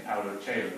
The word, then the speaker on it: Paulo Coelho: you, according to how you say his name, Paulo Coelho, apparently is the correct pronunciation.